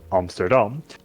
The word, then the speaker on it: Amsterdam: Unfortunately, in the capital, Amsterdam, or as you would pronounce it correctly, Amsterdam, a monumental church was caught in a fire and burned down.